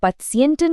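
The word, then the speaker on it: Patienten: इसका प्रोनाउंसिएशन है इश कन पत्सियंटन गुट behandeln, मतलब मैं मरीजों का अच्छा इलाज कर सकता हूं।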